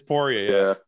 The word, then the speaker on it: Poirier: be like, why don't you guys correct his pronunciation? So I'm like, how I'm saying it? It's Poirier. Yeah. Poirier.